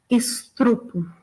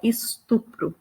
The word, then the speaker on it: estupro: Uma bem comum também é da palavra estupro, que muita gente, de forma um desvio linguístico mesmo, a gente tem a pessoa pronunciando estrupo, né? Então, a palavra é estupro.